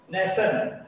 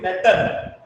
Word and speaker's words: nation: So fashion, nation. So TI is pronounced as S. Nation. We are not telling Natan. We are telling nation.